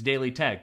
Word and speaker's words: Daily TEKK: Every time I tell someone about the channel, it's like, it's Daily Tech, but it's spelled Daily TEKK.